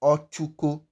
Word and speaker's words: Ochuko: So how would you pronounce this word? The word now will now be pronounced as ochuko. You can hear the ch, ch, ch, ch, ch, ch sound. Ochuko. It does not give you the sh sound. It is ch.